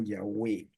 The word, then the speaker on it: Yahweh: El nombre del Padre es Yahvé o Yahweh. Solamente esa pequeña diferencia entre pronunciar la wow como U o como V, ambas, de ambas maneras se puede hacer.